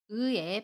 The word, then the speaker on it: 의: 발음 일곱 번째 시간 의외의 발음을 알아보겠습니다 1 을 발음하는 방법 알아볼게요 의인 모음 의와 고음 2 가 결합해서 생긴 단어입니다 아름 할 때도 우와 이를 빠르게 합쳐서 의 라고 발음 해요 연습을 할 때 이